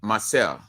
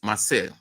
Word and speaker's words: Marseille: The Weirds venture at Marseille, or normally we'll say Marcel, but the actual pronunciation is Marseille.